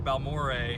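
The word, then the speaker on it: Balmorhea: How do you say that town name? Balmorea? Balmore. Okay, Balmore. Balmore. Balmore. All right, it's Balmore.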